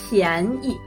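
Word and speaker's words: 便宜: 贵的 The opposite of 贵 is 便宜 cheap. Still, the second one is a light sound.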